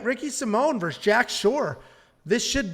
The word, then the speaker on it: Simon: tough teamer valuev and ricky simone it's simone it's not simon i listen i've i've